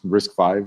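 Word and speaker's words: RISC-V: using a 64 variant of this it is pronounced risk 5 as it says here but if you scroll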